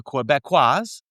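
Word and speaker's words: Québécois: The Quebecois or the Quebecers, but if you're saying it in the native Quebecos, absolutely. Quebecois. So there you go, bro. I'm not lying about that. That's how you say it.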